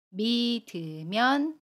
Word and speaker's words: 믿으면: 발음합니다 연인 이에요 미 이들 문장으로 보면 이렇게 발음 해요 속과 겉이 다른 사람은 믿으면 안 돼요 속과 겉이 다른 사람은 믿으면 안되요